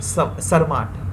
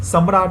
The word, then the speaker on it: Sarmat: सच news है regarding सरमाट, सम्राट नहीं, SAMRAT नहीं है, ये SARMAT, ध्यान देना, ये वाला स्पेलिंग देखना, है ना। तो क्योंकि मेरा भी पहले उच्चारण में भी निकल गया था सम्राट, है ना, इसलिए मैं बोल रहा हूँ सरमाट।